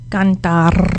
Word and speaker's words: cantar: So in Espanol, it's cantar. Cantar. Canta. Good. Ah, Good. If you can, you can practice. And it's a simple word, but you can practice rolling your R's with this word. Cantar.